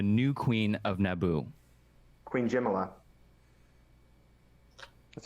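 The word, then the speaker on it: Jamillia: name of the new queen of Naboo Queen Jim a lot that's how they pronounce it it spelled Jamelia but it's pronounced Jim a lot in the movie I'm gonna say correct because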